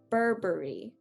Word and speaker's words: Burberry: how we pronounce it we're not going to pronounce it as berry as in the fruit uh we're gonna pronounce it more like like the the bur sound that we make here burberry i've included two um